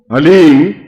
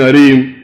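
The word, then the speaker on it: ह्लीम: वो बोले ओम हलीम, बस ये हलीम शब्द बहुत ध्यान से उच्चारण करने देना है, HALEEM, हलीम। कोई बोले हरीम, कोई बोले हीम, तो कुछ फायदा नहीं होगा। हलीम, हलीम, ह आधा है।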